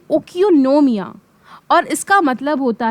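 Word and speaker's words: οἰκονομία: सबसे पहले इकोनॉमिक्स जो वर्ड है ये एक ग्रीक वर्ड है। इसको प्रोनाउंस करते हैं ओकियोनोमिया और इसका मतलब होता है हाउस होल्ड मैनेजमेंट।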